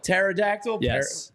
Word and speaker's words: pterodactyl: are you kidding me isn't it par no pterodactyl who talks about dinosaurs I'm not six have